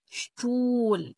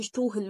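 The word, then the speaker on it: Stuhl: كلمه شتول شتول شتول كرسي اس شت شتول الها في النص ما تقولش شوهل مثلا لا شتول شتول تمام يعني كرسي شخص شارع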